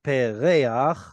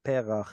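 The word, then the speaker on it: פרח: It should have been pereach, but because of the chet, we get perach instead.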